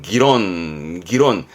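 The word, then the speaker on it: 議論: 발음은 기론.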